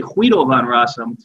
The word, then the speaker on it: Guido van Rossum: answer guido van rossum it's actually huiovan rasam uh but americans say guido okay what year did